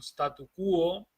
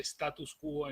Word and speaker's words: statu quo: Tener que transformar un statu quo. Vamos a recordar que no se dice status quo en español, sino que en latín es status quo es en inglés.